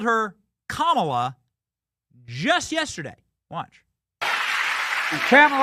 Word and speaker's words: Kamala: Kamala is the correct way to pronounce her name.